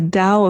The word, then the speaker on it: Tao: years ago called the dao of poo which is the tao of poo i think it's spelled town but i thought it was pronounced like dallas oh i wouldn't know